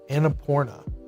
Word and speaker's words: Annapurna: It's Annapurna. That's the name of the company. Could they make that a little bit easier to pronounce? I had literally had to Google how to pronounce that. Annapurna. Annapurna.